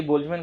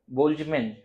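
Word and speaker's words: Boltzmann: उसी तरह आपसे पूछ सकता है कि बोल्जमैन कांस्टेंट का डायमेंशन बताइए।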